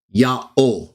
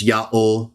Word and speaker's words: Yahweh: Jerome continues, it is the proper name of God and can be pronounced as Yahweh.